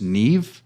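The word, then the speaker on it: Niamh: a girl on there her name is Neeve but it's spelled ni i a m GH I believe yeah be wellsh it's not it's it's Irish oh no that whole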